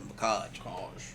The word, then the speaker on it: Mackage: And at this time, I just had the Mackage hoodie on, the Macaj hoodie. Let me say it right, the Macaj.